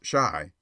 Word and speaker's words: Chi: boy and printer bow Chi pronounced shy by the way is the argot for Chicago a favorite device of